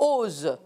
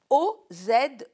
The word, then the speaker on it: OSE: on dit oser normalement devrait dire ose puisque c'est œuvre de secours aux enfants et on tient absolument à prononcer et à dire oser bien parce que l'oser c'est un mot russe obses gravitraneenia est vrai organisation sanitaire pour les Juifs Oze effectivement c'est une